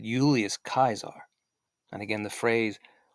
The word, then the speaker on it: Julius: But his real name, he wouldn't have said Julius because there was no J sound in Latin. So he would have pronounced it like with a U, Julius.